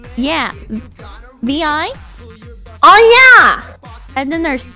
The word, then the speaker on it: Vi: Vi! Vi? Vi! Why is it spelled like that then?